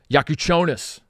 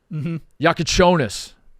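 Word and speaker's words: Jakučionis: think like when they put it together uh yaku chonis yaku chonis I learned how to say his name I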